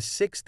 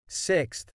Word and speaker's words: sixth: note that when using sixth in writing it is typically spelled with a th at the end however when speaking the th sound is often not pronounced clearly and it may sound